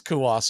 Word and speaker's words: Cuas: pronounce this guy's name I call him JC Jose cuas oh what is kawas okay I've said that before but I never thought it was right the 01 pitch inside for a ball it's one and one quirky pronunciation he came over at the trade deadline from Kansas City for Nelson Velasquez that's one of those names where you're like c-u-a-s and you find out he pronounces it Smith the one one